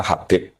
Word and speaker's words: Habib: Itu di harakatnya kitab itu ada yang nulis khutbab. L yang benar. Oh, nggih. Yang benar itu bacanya Habib.